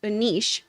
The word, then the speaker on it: Anish: a difficult name but my name is actually pronounced Anish like the Italian word capiche thank you so much